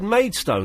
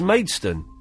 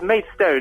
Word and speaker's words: Maidstone: I just said Maidstone, and of course it's not, is it? It's Maidstone. Well, however you like it, isn't it? Is it? What's the correct way? You live there. What's the correct way to say it? Well, it's Maidstone if you come from London, of course.